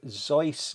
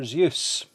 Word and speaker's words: Seuss: Seuss, Theodore Seuss Geisler always maintained that the middle name rhymed with voice, but by the end